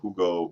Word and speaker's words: Hugo: Dear Bard, no, my son's name is Hugo with just Hugo, like the Germans, right? The U with dots above is a different pronunciation. It's more like a Y of sorts.